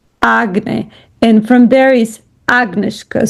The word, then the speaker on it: агнешка: And from there is Agnieszka. So the accent is on the A. Agnieszka, not Agnieszka, but Agnieszka.